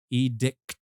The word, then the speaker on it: edict: um EDI and anthemus it's not EDI because that that's a dickpic edict is uh is the thing we're talking about here I'm just gonna call